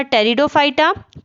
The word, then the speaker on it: टेरिडोफाइटा: और इसमें भी इसको 3 क्लास में डिवाइड किया गया था जिसका नाम था टेरिडोफाइटा, पी साइलेंट है यहाँ पर, जिम्नोस्पर्म और एंजियोस्पर्म।